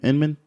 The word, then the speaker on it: Inman: Dontrelle Inman that's how you say his name Inman sound all right it's like inma in him